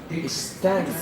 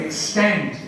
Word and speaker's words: extend: Okay, stress on the word. Extend. Very good. Extend. Yeah, so the stress comes on the second syllable.